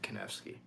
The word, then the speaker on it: Konevsky: many people cannot do because it's 3 syllables. I'm not talking about Soulcactus. I'm talking about my actual real last name, Konevsky.